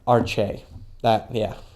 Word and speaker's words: Arce: Oh, Arce. Arce. We can retract all of my miserable pronunciations on that earlier.